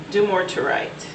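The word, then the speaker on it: Dumortierite: your crystal grid soul journey and you have dimmer turrite geometerite do-more tearite i apologize but i have to pronounce it properly the number is five beautiful grid but it's pronounced do more to write do more to write and the message for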